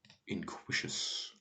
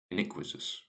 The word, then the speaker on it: iniquitous: And then we have inquisitus. Iniquitous. Oh, that's just going to be unequal, isn't it? Definitely got the pronunciation of that wrong.